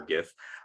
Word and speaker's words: gif: a quick gif and i do say the hard g for gif of a 3d blueprint